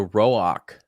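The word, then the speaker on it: Roäc: Is it Rock or Rock? Roak. This Roak? is where Jim would come in handy because there's like the 2 dots over the A, and that's something linguistically that I can't remember what it means.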